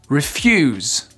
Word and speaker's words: refuse: verbes, vous faites pause, vous prenez le temps de vous entraîner à les accentuer sur la 2e syllabe et vous vérifiez juste après. Refuse, refuse.